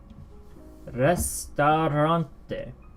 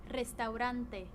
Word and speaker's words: restaurante: Restaurante. Restaurante. Restaurante. Restaurante. I put my rolled R, my trilled R wrong location, but yeah. Restaurante.